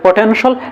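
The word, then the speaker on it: potential: শুদ্ধ করে ইংরেজি বলা শব্দের শেষে যখন টি আই এল থাকবে তখন সেটা হবে সল সল সল তো আমরা বলতে পারি পটেনশল এসেনশিয়াল এভাবে বলতে পারি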